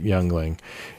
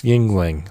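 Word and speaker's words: Yuengling: jungling that's funny because some people would just pronounce it youngling it's founder surname and the German term for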